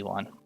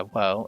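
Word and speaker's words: を: Ga, this is an easy one. The particle is pronounced the same as the regular syllable. O, the particle represented by wo, is actually pronounced o instead of wo.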